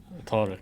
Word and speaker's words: Tariq: Tariq. Tariq. Yeah. Tariq. Say it again. Tariq. Tariq. Okay. The cough, Huh. like in Arabic language, the cough, Yeah. like you have to show it from your throat, you know, like cough.